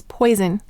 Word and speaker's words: poison: And what sound do we hear from s, z? The second sound, z.